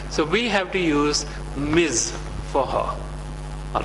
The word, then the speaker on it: Ms: short form for Mis it is pronounced Miz it is not miss it is Miz and for whom should